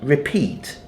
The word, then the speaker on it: repeat: repeat and you and the word repeat the accent is on the second syllable right Pete so